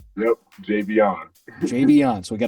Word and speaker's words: Javion: with the nuts and bolts as far as pronunciation of your name it's not javian it's right yep Javion JB on so we got to get that